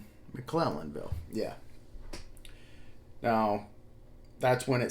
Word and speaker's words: McClellanville: I want to call it McClellanville, and I just want to make sure I'm pronouncing it correctly. McClellanville.